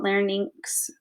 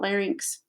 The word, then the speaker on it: larynx: that's considered your larynx uh some people call it learnings i just think it it's pronounced how you heard your professor pronounce it and i was always taught larynx okay so again you